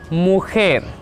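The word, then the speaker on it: mujer: जे. हम इसका उच्चारण 'महिला' की तरह नहीं कर सकते। नहीं। स्पैनिश में ' ज' की ध्वनि 'क' जैसी होती है। के. ला मुएर.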